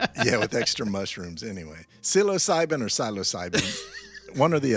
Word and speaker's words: psilocybin: Psilocyum. What? Psilocyum. But it's also pronounced psilocyum. Psilocybin. Psilocybin.